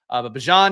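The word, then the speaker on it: Bijan: Bjon here is how you're supposed to uh pronounce his name which I'm trying to do now.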